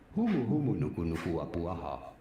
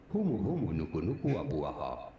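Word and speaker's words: humuhumunukunukuapuaʻa: Humu humu nuku nuku apuaha. Humu humu nuku nuku apuaha. All right. That's how you pronounce it.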